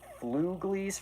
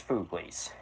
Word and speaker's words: Fooglies: I was thinking it was Fluglies for some reason, but it's Fooglies.